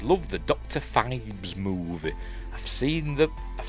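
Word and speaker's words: Phibes: Feebs. And I pronounced it like that forever. Even though in the film they say Fibs, don't.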